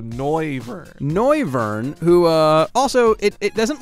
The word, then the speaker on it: Noivern: I think it's Noise, so Noivern.